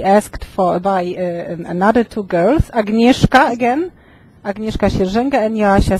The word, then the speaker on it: Agnieszka: So I got Agnieszka. Yeah, or Agnieszka, you can say Agnieszka and Joanna.